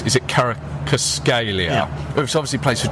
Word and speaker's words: Kvaratskhelia: and there's the player that I can never pronounce. Is it Kvaratskhelia?